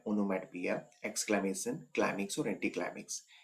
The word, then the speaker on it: onomatopoeia: इसका जो प्रोनाउंसिएशन होता है वो भी आप ध्यान रखेंगे। इसका प्रोनाउंसिएशन होता है ओनमैटोपोइया।